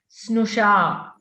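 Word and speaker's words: स्नुषा: You try to pronounce the long vowel also. Okay, don't make it short.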